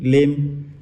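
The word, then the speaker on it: limb: हमारा दूसरा एग्जांपल है लिम एल आई एम बी लिम यहां पर भी साइलेंट हो जाएगा तीसरा लब्ज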